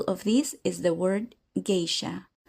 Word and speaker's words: geisha: An example of this is the word geisha, whose pronunciation is closer to its native Japanese sound.